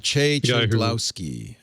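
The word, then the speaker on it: Maciej Cegłowski: I don't want to try and pronounce his actual name, but Maciej Ciglowski.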